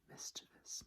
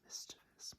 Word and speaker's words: mischievous: So, number 27, mischievous, mischievous, mischievous, mischievous, mischievous, mischievous. Many people pronounce this as mischievous. It's completely understandable, but they're adding an extra letter where there is none, so it is actually mischievous.